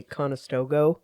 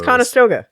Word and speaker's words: Conestoga: Or like you can tell somebody's not from around here when they say Conestoga. Instead of because you read the sign, even though you're reading it, you're saying it correctly. But if you're from around here, you know that's not how it goes. It's Conestoga. That's a good point.